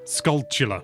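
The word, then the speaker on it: Skulltula: With the Skul- Skultulla. I called Skultulla. I'm just waiting to see how other people pronounce it.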